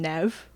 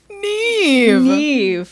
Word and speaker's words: Nev: I used to call him Nev because that's what I thought it phonetically said.